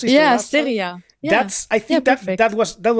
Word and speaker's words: Asteria: And for me, Asteria, how do you pronounce it? Yeah, Asteria.